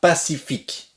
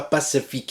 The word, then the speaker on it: pacifique: et plus l'humanité sera pacifique pacifique s'est pas pacifique et dans le final ne se prononcent pas pacifique ensuite on est